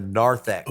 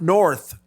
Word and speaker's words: narthex: at what's called the narthex of the church. I like what I'm hearing. It's at the Narthex? I of the love church. narthex. Oh, Narth, not north, narth.